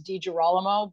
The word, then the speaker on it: DiGirolamo: The American pronunciation is DiGirolamo, but all of my friends from South America and from Europe pronounce it the traditional way, which I absolutely love.